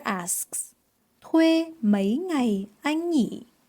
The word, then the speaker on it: nhỉ: In natural speech, you will often hear locals pronounce it as nhẹ or nhờ.